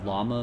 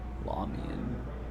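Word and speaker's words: Lahmian: Did you say llama medium? Lamian? Lamian. Yeah, I think that's how you pronounce it.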